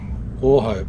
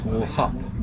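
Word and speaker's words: Wauchope: Well, here we are at Warhope. No, it's not Warhope, it's Warhup. Warhop. Warhop. Warhop. Warhop. We don't know where we are. In Northern Territory.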